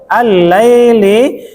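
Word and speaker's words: الليل: Al-laili itu sudah double dia ya. Jadi lam ketemu lam. Ya, jadi baca karena dia huruf Syamsiyah bukan. Huruf Syamsiyah.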